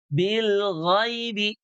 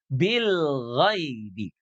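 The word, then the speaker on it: بالغيب: Jadi bil ghaibi, ghaibi. Dia dibacanya lembut, ghai. Ghai. Ya mati itu bunyinya sama dengan i ya. Jadinya ghaibi. Bil ghaibi, tidak ghai. Tidak ghai, ya, tapi ghai.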